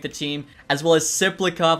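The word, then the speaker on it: Tsyplakov: Cal Richie I think will probably make the team as well as Cyclop. I know the tea is silent now.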